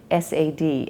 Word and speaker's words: SAD: If you're eating the standard American diet, which is abbreviated in the literature SAD and pronounced sad, then chances are you don't get enough fiber, and fiber is certainly something the body needs.